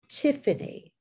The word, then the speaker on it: Tiffany: And here, the Y in Tiffany, being the third syllable in the name Tiffany, and it's pronounced as a vowel at the end, like the E, Tiffany.